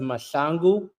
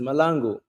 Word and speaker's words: Mahlangu: In my country, it's pronounced Mahlangu in South Africa, but in America, it's pronounced Malangu.